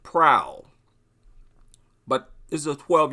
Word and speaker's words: Proulx: I'm not sure how to pronounce his name Tyson prowl is it proud I assume the x is silent Tyson and his last